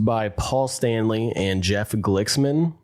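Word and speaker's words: Glixman: I'm going to guess that's how you sp say it. I don't know if the X is silent or something, you know. No, I'm pretty sure you got it right.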